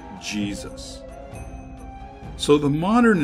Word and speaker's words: Jesus: around 1500 AD that the letter J took on the jib sound we are familiar with today so yay Seuss came to be pronounced Jesus so the modern name